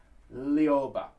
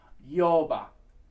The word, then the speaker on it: Lyoba: Now, we are not going to be pronouncing that Lyoba. The L's in that are very light. They're almost non-existent. It basically is just going to be a scoop up into the note. So it's going to be Lyoba. So virtually no L at all.